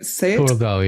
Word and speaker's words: Thurgau: He was born in July 1875 in Kessel, which is a really rural part of Thurgau in Switzerland. Is that how you say it? Thurgau, yeah.